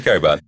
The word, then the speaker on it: Cockburn: But then the most shocking development of them all, so Agent Coburn is the one that reveals all this information. Can we just call him what it is? What? It's Cockburn. Definitely Coburn.